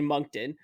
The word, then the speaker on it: Moncton: all you butchered the because it's actually monkton i'm moncton sorry i'm